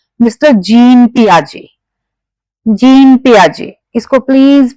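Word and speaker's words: Piaget: Gene पियाजे इसको please पियागेट या जेट कुछ नहीं बोलना है। इसमें टी साइलेंट है।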